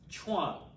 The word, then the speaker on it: chuan: and that last word chuan is pronounced like you're saying chew on but fast chuan so you're making chuwan